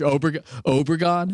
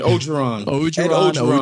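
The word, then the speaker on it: Orgeron: Coach Obregon? Is that how we say it? Ogeron.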